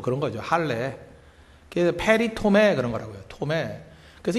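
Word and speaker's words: περιτομή: 그 헬라어로 할례라는 게 페리토메라는 단어입니다. 페리토메. 그러니까 발음 그대로 읽으면 돼요.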